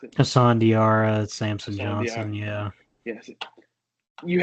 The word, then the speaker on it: Diarra: You got Alex Caravan and Hassan Dari, is that how you pronounce it? Hassan Diarra, Samson Johnson, yeah.